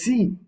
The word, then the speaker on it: sie: It's spelled as SIE, but it is pronounced as C, and HIR, which is pronounced as here.